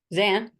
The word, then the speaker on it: Zan: trying to unmute myself how do you say your name Gan or Zan Zan Zan okay right yeah that's fine